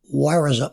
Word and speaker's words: warison: and the word is Warison, Warison, Warison. So it's war is on.